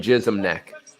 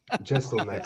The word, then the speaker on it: Jeselnik: I'm still hearing Jism Neck. Jeselnik.